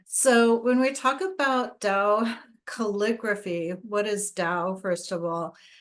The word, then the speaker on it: Tao: alphabet a little because it sounds like it starts with a d so you may see it spelled with a d occasionally and lau said the true da is something that cannot